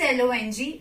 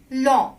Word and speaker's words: long: G you will not, apart from H, you will not pronounce it at the end of word, right? For example, G is long. It is L-O-N-G. It's long, not long.